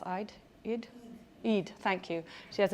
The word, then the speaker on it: Eid: Sana, the main character that season, her family has an Eid, how do you pronounce Eid? Eid?